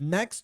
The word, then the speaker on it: next: Next to Turkey. Olha como que emenda, né? Next. Não tem o T na pronúncia. Fica só next. Já emenda com to.